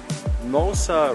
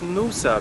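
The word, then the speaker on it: Noosa: we are now with Nosa River I think no you probably pronounce it NOA because you also say scoobydoo and this has also two o so that's my logic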